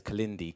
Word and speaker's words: Kalindi: Or if you've got a photographic memory, please remember it is spelt K-I-L-I-N-D-I. That is Kalindi.